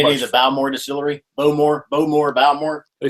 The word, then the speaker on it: Bowmore: Balmore, but it's neither. It was No, it's not Boomore. Balmore. It was Boomore. Bowmore. Boomore. Enunciation in the majority of Scottish distilleries is in the second syllable.